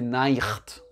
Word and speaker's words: Nacht: Donc les Allemands, ils vont le prononcer Nacht.